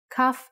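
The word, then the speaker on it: כ: with sharp corners cuff cuff actually is only pronounced like when it has a dot inside just like bet only has the B sound when it has this dot without the dot it sounds like huh a good example is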